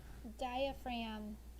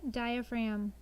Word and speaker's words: diaphragm: now diagonal number 19 diaphragm diaphragm it is best to use your diaphragm when you are singing sing from your diaphragm diaphragm this one has a silent letter in it number 20 physician a